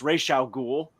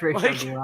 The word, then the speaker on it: Ra's al Ghul: You're gonna have Ra's al Ghul's name actually be pronounced Ra's al Ghul. Yeah, it's Ra's al Ghul, actually.